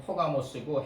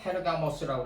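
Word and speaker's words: Πέργαμος: 원래 영어 발음으로는 퍼가모스고 헬라어 발음으로도 퍼가모스예요. 성. 파르게모스. 페르가모스라고 그랬대요.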